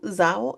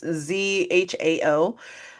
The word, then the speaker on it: Zhao: I'm gonna mispronounce her last name, but she directed The Eternals, I believe. Chloe Zhao. Zhao. It's Zhao. Um, it feels so intimate.